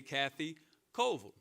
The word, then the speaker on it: Colville: Greensboro, you understand that Ville is not Ville, it's Vol. That's how we pronounce it, as in Gibsonville, Reedsville, McLeansville, so it's Vol.